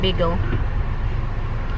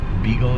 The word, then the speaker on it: bagel: Bay. Bay. Like a little body of water. A bay. Ah, There so you it's go. not B. Not beagle. Bagel.